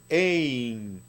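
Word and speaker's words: אין: hay, no tiene empieza con alef, que es muda. Después tenemos dos puntitos con yod, que como vimos hace un rato suena ei, y una nun sofit o nun final, y esta palabra se pronuncia por lo tanto ein, ein, cuando usted hable con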